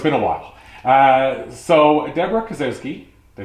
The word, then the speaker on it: Debra Kasowski: So Debra Kasowski, did I say it right?